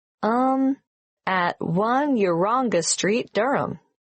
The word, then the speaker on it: Durham: how do you spell Durham d u r h a m of course I should know that but it's just one of those names that sounds quite different from the way you spell it it is confusing I've